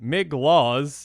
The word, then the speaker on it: Migloz: I think Migloz, that's how you say it, Maze Crusher, can be a sneakily interesting commander.